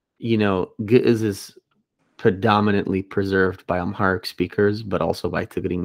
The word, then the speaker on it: Ge'ez: And Ethiopia, I'm not sure how I pronounce it the way I know how, which vocalizes the ayin. Yeah, so, say it again, sorry. Ge'ez. Yeah, yeah. Yeah, so. That's the more correct way, to be honest.